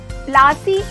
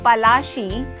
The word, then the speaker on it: Palashi: Plassey is an anglicized pronunciation of Palashi, and the place derived its name from the Palash tree, known for its beautiful red flowers that yield gulal.